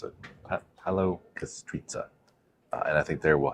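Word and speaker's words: Paleokastritsa: But our first stop will be Paleo Kastritsa. That's how you pronounce it. Paleo Kastritsa.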